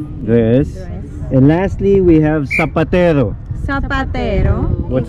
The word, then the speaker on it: zapatero: And lastly, we have zapatero. Zapatero. What's it's a zapatero? In Spanish, but the shoemaker. It's with Z. We spell it with Z, but we pronounce it like with S.